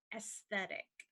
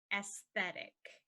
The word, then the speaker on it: aesthetic: difficult even for English people to say so aesthetic aesthetic and aesthetic is sometimes used as another word